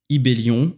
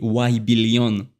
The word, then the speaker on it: Ybelion: J'ai mis un Y, Ibellion en prononciation française. Petit fun fact auquel j'avais pas pensé, c'est évidemment que pour les Anglais, le Y se prononce Y. Donc on m'a pas mal appelé Y-Billion au début.